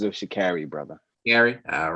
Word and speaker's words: Sha'Carri: She pronounces it Sha'Carri, brother.